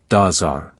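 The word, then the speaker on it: dab tsog: it is called the dab sag pronounced like daar I grew up not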